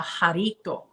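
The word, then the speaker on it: jarrito: it was so cute it's called a harito jarito spelled with a j jarito and you know j-a-r-r-i-t-o you know like jar but i like those i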